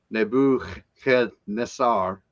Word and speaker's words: Nebuchadnezzar: It's Nebuchadnezzar. That's how you pronounce that.